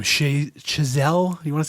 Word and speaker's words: Chazelle: Chazelle.